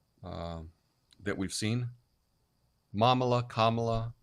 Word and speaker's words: Kamala: to say the name it's Kamala it's not hard just think Kama right comma um rhymes with mamala